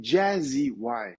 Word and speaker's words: Jazzy Y: Je te corrige, c'est Jazzy Y. Jazzy Y, Les Jay-Z au lieu de Français, Jazzy. T'as bien raison, hein? les Français prononcent Jay-Z parce qu'eux, ils ont de la difficulté avec l'accent. Mais comme référence, c'est juste, ça fait référence au jazz, la musique jazz, Jazzy Y.